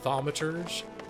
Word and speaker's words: thaumaturge: Taco Bell box thaumaturge this is how you say it vomit urge it's a lot of